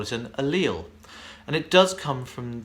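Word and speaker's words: allele: book for this kind of thing does specify alil rather than alel and most dictionaries that I found online also specify alil over alel however the Oxford dictionary says alel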